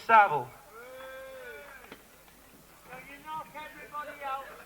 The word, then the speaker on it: Savile: His name rhymes with gravel. Himiny gravel, himiny gravel. What's his name? Is it Jiminy Bovril? Jiminy Battle? No, it's Jimmy Savile.